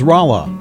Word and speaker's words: Rolla: Here's Rolla, population 20,000. Rolla is named after North Carolina's capital, Raleigh, but spelled in a more phonetic way as North Carolina's locals pronounced it at the time.